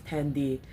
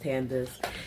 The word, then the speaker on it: Tandace: So many people pronounce my name as Tandy, like it's um some foreign name, but no, it's just Tandace.